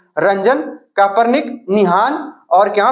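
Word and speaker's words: Roentgen: उसके बाद इसका नाम है रंजन, तो रंजन ही पढ़ेंगे, है ना, T साइलेंट कर दिया जाए तो क्या हो जाएगा, रंजन, यानी रंजन।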